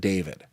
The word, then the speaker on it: D4vd: It's pronounced David.